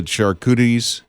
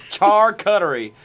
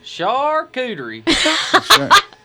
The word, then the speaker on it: charcuterie: what would you put on yours uh the charcuties yeah forward sure kid report um i don't